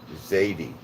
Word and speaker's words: Zadie: facebook by the name my name is pronounced zadie zadie okay yeah i was